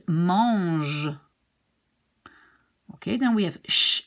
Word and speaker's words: mange: And how do we pronounce this G? Well, we pronounce it like J, like treasure, J, treasure, gentil, givre, and mange.